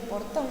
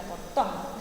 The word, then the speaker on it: portón: Pero al chico le tenés que enseñar que portón lleva acento en la voz, fíjate dónde suena portón. Ahí está la sílaba tónica, que sería la sílaba fuerte.